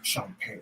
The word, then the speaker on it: Champagne: A cat I met at the PMC named Champ Simmons was Champagne. Oh, that's how you say it? That's how you say it. Champ with a E, champ. As my kids would say, Champ.